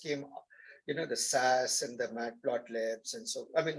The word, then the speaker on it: Matplotlib: Python first came, the SAS and the matplotlibs, and so, I mean, not matplotlib, what is it called?